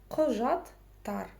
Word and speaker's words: құжаттар: Дальше идет буква «У» с черточкой снизу. Это твердая гласная в казахском языке. Чтобы ее прочитать, за основу нужно взять букву «О» обыкновенную, да. Просто эта буква «О» должна прочитаться очень коротко. О. Знаете, такое вот легкое удивление. О. Ко. Құжаттар.